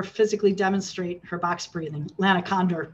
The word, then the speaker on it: Lana Condor: shooting the video with Lana Connor to not just have her talk, but to have her physically demonstrate her box breathing. Lana Condor, by the way, I mispronounced her name.